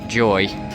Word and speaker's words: YOY: I think it's actually pronounced Joy.